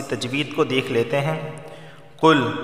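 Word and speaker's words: قُلْ: کو دیکھ لیتے ہیں۔ قل موٹا والا قاف ہے، قل، ٹھیک ہے، باریک کاف نہیں، قل نہیں، قل، ٹھیک ہے، قل۔ اعوذ واو ساکن سے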